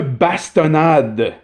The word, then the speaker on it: bastonnade: Une bastonnade. You heard that right, vous avez bien entendu. Donc là, le S reste.